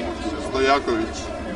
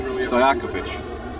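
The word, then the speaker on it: Stojaković: Pronounce it for me. Stojakovic. I've been practicing it all day. Stojakovic.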